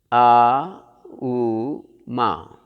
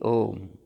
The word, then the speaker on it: Om: In English we may say A-U-M. Aum. Don't pronounce like that. It is only Om. When it is mixed, it won't become A-U-M, Ma. It is Om.